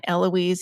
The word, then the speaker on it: Eloise: a really formidable Aunt Eloise, who's an important person in your life. Tell us kind of what the cast of characters is here. Yeah, she pronounced it Elois.